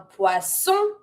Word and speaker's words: poisson: Careful. Sometimes I hear poisson. Every time you have the double S, it will always be pronounced the S sound. Not the Z sound. Cuz if you say poisson, it means poison. Here we want to say fish. Poisson. S sound.